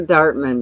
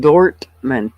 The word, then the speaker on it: Dortmund: Not Dartman, but Dortmund.